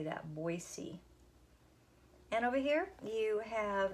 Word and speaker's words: Boise: Morgan what is the capital city of Idaho Boise is how you say that Boise and over here you have a tally chart